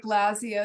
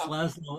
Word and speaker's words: Laszlo: Looks like Lazia is trying to ask a question. If I'm pronouncing his name correctly. Yes, and it's Laszlo, and Michelle knows me.